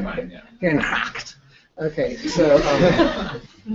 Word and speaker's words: Herengracht: Herengracht.